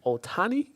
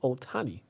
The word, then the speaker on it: Ohtani: trying to use to say his name properly otani shohei ohtani yeah yeah otani yeah he's a different breed